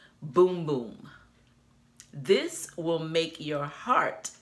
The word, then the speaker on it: Bum Bum: be persuaded to say bum bum but inside of this packaging it has the pronunciation and it says it is pronounced boom boom this will make your